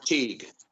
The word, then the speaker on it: Teague: How do you pronounce his name? Was it Louis Teague? Yeah, Teague.